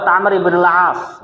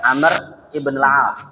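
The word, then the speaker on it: Amr ibn al-As: Kalau enggak ada wunya maka bacanya Umar. Misalkan dalam hadis ya dari sahabat Amr ibnul Ash misalkan dari sahabat Amr ibnul Ash maka cara nulisnya an Amr begitu ya ibnil as an Amr ibnil ash.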